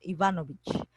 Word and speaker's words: Ivanovich: Ya para pronunciarlo un poco más ruso, Ivanovich.